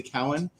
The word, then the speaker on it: Cowan: I will try and pronounce correctly. Cowan.